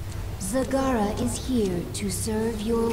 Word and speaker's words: Zagara: see we have zagara whose name I continually mispronounced in the last video uh it's zagara so anyway uh we